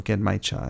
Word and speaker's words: genmaicha: maybe a gangmicha, or also genmaicha, as it's pronounced in Japanese.